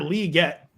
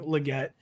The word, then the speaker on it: Legette: don't worries I think I think he wants Xavier Lee get I can't quite get to Lee I'm still saying Legette uh so we're not